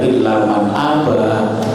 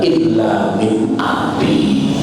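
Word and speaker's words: إلا من أبى: Tapi begitu sampai pada illa man aba, keliru bacanya illa min abi.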